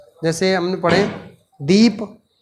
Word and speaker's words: दीपः: जैसे दीप, अभी इसको हम पढ़ रहे हैं दीप, लेकिन जैसे ही इसके साथ हमने 2 विसर्ग जोड़ दिया, अब इसका उच्चारण कैसे करेंगे, बोलेंगे कैसे? दीपः।